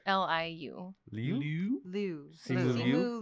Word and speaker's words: Liu: Simu I think it's Limu. Liu. Limu? No, Li- it's Liu.